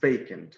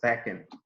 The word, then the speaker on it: vacant: slide first word is vacant which is an adjective if the pronunciation they can't remember many people pronounce this word as backing but this transition is not back and it's vacant u.s.